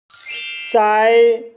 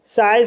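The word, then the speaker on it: sigh: GH silent रहता है, जैसे साई। साई शब्द में I के बाद GH आया है, इसलिए GH साइलेंट रहेगा, इसलिए इसे साई पढ़ा जाता है।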